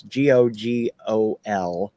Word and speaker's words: Gogol: So yeah, through Risk Cutters, I found Google Bordello, and that's Gogol, Oh, and then okay. Bordello. Not spelled like the Google search.